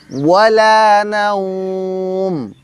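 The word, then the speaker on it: ولا نوم: ওয়ালা বলার সময় যখন আপনি ওয়াওয়ের উচ্চারণ করবেন তখন মুখ, ঠোঁট গোল করবেন। যত বেশি গোল করবেন আপনার উচ্চারণটা তত শুদ্ধ হবে।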